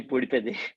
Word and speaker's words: Poodipeddi: I mean, thanks for the welcome, and it's actually Poodipeddi. I know it's Poodipeddi. no, don't worry about it. Yeah, it's a bit difficult to pronounce.